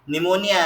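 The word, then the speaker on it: pneumonia: जैसे है ना, निमोनिया है, निमोनिया की स्पेलिंग पी से शुरू होती है, पी का ही नहीं आता निमोनिया के अंदर, है ना, लेकिन साइलेंट है ना, साइलेंट है तो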